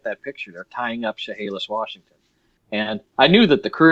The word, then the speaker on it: Chehalis: I'm looking at this one, Chehalis. Is that how you say it? Chehalis? Chehalis.